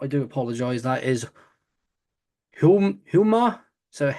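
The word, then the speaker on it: Houma: I'll try and pronounce it. If I mess it up, I do apologize. That is Hummer.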